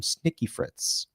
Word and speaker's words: Snaky Fritz: Um, Snaky Fritz, am I pronouncing that? You are.